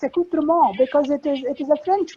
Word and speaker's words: accoutrement: Now it's a French word, but it's used in English, and somebody used it in English, and of course I kept saying ment, accoutrement, but it's not. It's accoutrement because it is a French word.